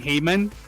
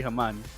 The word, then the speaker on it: Haman: If you guys want to tell us about the right pronunciation of your name, because we've been calling Haman Heyman this whole time. It's actually Haman.